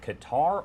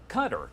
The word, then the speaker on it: Qatar: live look over at Qatar or Qatar depending on who you ask here and it's time